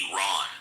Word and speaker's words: Iran: Middle East knows that Iran is pronounced Iran, but go ahead.